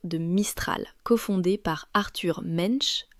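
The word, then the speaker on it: Mensch: Je pars bien sûr de Mistral cofondé par Arthur Mench, prononcé mange si vous voulez le faire rager.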